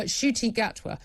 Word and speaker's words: Ncuti Gatwa: at all i'm rubbish on these things uh shooty gatwa he's replacing jodie whittaker first female doctor who